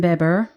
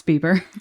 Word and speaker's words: Bieber: right first artist we covered was mr justin beber as his friends call him that's how you say his name no it's bieber oh justin bieber you know it's my thing